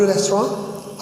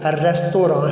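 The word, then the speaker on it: restaurant: अच्छा, रेस्टोरेंट हम पढ़ते हैं लेकिन इसकी सही प्रोनाउंसिएशन जो है वो रेस्तोरां है। फ्रेंच वर्ड है और फ्रेंच में एंड पे जो टी है वो साइलेंट होता है।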